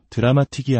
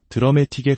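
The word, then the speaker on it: dramatic: 우리가 자주 쓰는 드라메틱이라는 단어도 드라마틱이 아니라 드라메틱에 가깝게 파이널리도 파이널리가 아닌 파이널리처럼 첫음절에 강하게 힘을 주어 발음해야 합니다.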